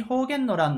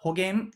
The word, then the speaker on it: 保元の乱: て解説しますちなみに保元の乱の方言はホ件と読むこともありますがどちらでも大丈夫です今回の動画